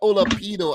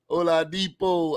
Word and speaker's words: Oladipo: Why do I say Michael Olapido? I always say that though. I always say that. Olapido. Oladipo. I know he's probably saying like, oh God, here he go again, say my name wrong.